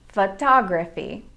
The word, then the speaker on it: photography: at the word photography photography actually has two schwa sounds in the first and third syllables fu fee photography in the word about